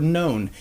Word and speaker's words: known: that is the word known k-n-o-w-n known there's no reason that that should be more than one syllable but many phd especially